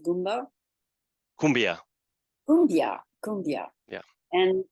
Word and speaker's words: Koombea: the inspiration for our Kumbia brand so we basically spell it differently to be able to uh pronounce it in the same way in English that is in Spanish